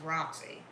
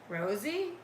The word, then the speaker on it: Roxy: Yeah, I believe that, but it's also phonetically spelled. Roxy, Rosie, Roxy, Rocky, Roxy. There's an X in there.